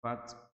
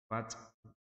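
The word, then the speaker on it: الفتح: Idza jaa nasrullahi wal fath. Fath ada punya samar ya, namanya bacaan hamas.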